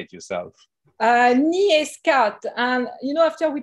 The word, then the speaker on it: NEA Scout: julie how do you say it yourself uh nia scott and you know after we chose the name